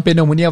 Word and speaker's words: pneumonia: grupo de palavras onde o p não é pronunciado existe na escrita mas não é pronunciado então pneumonia vai ser pneumonia pneumonia